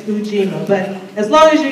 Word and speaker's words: Ujima: but I learned that the u sound in Swahili is pronounced who so actually it's not yojima it's fujima so naturally if I